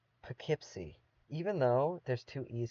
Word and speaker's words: Poughkeepsie: But in this town, they pronounce her name Poughkeepsie.